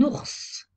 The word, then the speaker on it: ours: y a des exceptions un ours on prononce le S final une lettre muette très